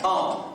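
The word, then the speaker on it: Baum: Well, actually, my given name is Daniel Nabidad Bomb. Now, that's Daniel, as in the lion's den, and Nabidad, as in Feliz, and Bomb. Spell that B-A-U-M.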